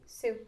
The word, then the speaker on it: su: Okay, su is like S-U, but it sounds like the name Sue. Sue.